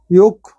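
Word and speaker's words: yolk: L silent हो गया योक यहां पर भी के के पहले एल आया है साइलेंट है अंडे का पीला भाग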